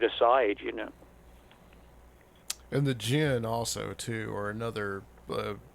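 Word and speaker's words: djinn: people who don't no um Jin it's it's a middle eastern term for a supernatural being uh it's spelled DJ I NN but it's actually where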